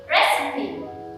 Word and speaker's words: recipe: people say process but it should be recipe three syllables recipe even awesome recipe